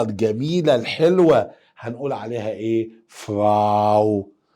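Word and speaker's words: Frau: فراو. فراو. برافو. اهي نجيب قلمنا اهو، انطق معايا فراو.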